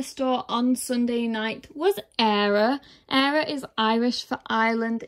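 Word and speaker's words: Éire: from the briar store on sunday night was error era is irish for ireland if you didn't know i've heard a lot of people say eerie and there are people out there who can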